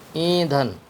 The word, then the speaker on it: ایندھن: نون۔ بہت سے آپ کو اس میں دھے کی بجائے دال اور دو چشمی ہے بھی بولتے سنائی دیں گے، لیکن یہ غلط ہے، کیونکہ دھے مستقل ایک اردو میں حرف ہے۔ تو یہاں اس کو نون کے بعد میں نے دھے بولا ہے اور پھر آخر میں نون ہے۔ ایندھن، اس کا رواں